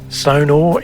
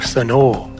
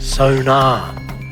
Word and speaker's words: Sonor: Sonor is the name, or Sonor, that's how it's pronounced. It's often mispronounced sonar.